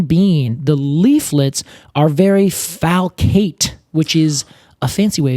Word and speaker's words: falcate: the biggest thing being the leaflets are very falcate which is a fancy way of saying sickle-like